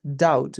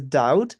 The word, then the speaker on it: doubt: It is pronounced as doubt because together silent so it is pronounced as doubt.